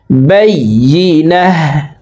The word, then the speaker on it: البينة: বলতা ওয়াকফের ক্ষেত্রে হার উচ্চারণ করব এবং হাকে সাকিন করে ফেলবো। বাইয়িনাহ হাত্তা তাতিয়াহুমুল বাইয়িনাহ।